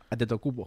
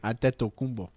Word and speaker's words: Antetokounmpo: Antetokounmpo. Say it again. It's not a Greek name. Say it again. Antetokounmpo.